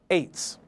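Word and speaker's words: עץ: 90, reference number 6086, tree in Hebrew is spelled from right to left, ayin to sadi sofit, pronounced eights.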